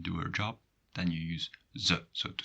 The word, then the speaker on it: u: Well, that's u, which is difficult to pronounce.